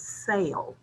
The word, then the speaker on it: sale: So you notice I used the word sale twice, but listen carefully because they're pronounced differently. SALE is sale. SELL is to sell.